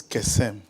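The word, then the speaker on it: קסם: The word divination means kesem.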